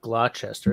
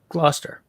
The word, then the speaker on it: Gloucester: Why are there so many letters in that word that aren't pronounced? Well, it's the same with Gloucester, right? It's not Gloucester, it's Gloucester.